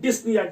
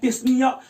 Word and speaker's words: dyspnoea: उसे हम बोलते हैं डिस्निया। DYSPNOEA, डिस्निया। इसमें पी जो है साइलेंट होता है, इसे हम बोलते हैं डिस्निया।